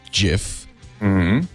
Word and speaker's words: GIF: battle Yeah GIF because so if it's a like giraffe it'll be short it'll be a soft GIF but if it's like gigawatts it'd be a harji so GI can be pronounced both ways yep so there English